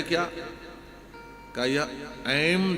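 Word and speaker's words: ऐं: है क्या कहा यह ऐम जो है यह देवी का बीज मंत्र है ध्यान से सुनना शुद्ध उच्चारण तो इसने नहीं किया लेकिन ऐ की जगह पर ए बोला ए ऐ कहा कृपा हो गई देवी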